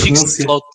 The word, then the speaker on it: Fixed Float: Mas com a minha pronúncia, Fixed Float. Não é Boat. Float. Float.